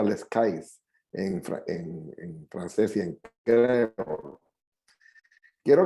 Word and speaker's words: Les Cayes: sobre la ciudad de los cayos que se pronuncia les cayes entra en trance siente